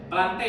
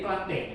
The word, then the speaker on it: Plantae: Bacanya Plantae atau Plantae? Plantae ya. Setiap ada AE itu cuman dibaca ini aja, jadi Plantae.